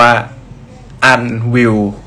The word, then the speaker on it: ANWYLL: Bill L นะ ครับ ผม อ่าน ว่า อัน วิว ใน ครับ อัน วิว ไม่ ใช่ ไม่ ต้อง ไป